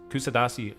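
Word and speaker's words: Kuşadası: visit I visited kusadasi I might be mispronouncing it but I went to or kushad Dasha something like this kusadasi is how I would pronounce it I was there twice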